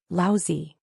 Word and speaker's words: Laozi: Li Mu corrected his pronunciation and said, Laozi.